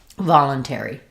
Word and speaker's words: voluntary: So I'd write that as va, lun, ter, E. Voluntary.